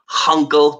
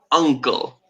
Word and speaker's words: uncle: Be careful with the pronunciation. No H. So no hunkle, but uncle.